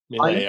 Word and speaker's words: Milei: You know, and I was fascinated with the Argentinian situation with President, how do I pronounce it? Milei, I believe.